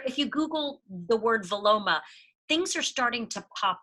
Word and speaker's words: Vilomah: And there is a word that I have come across called viloma, and it's spelled Vilomah.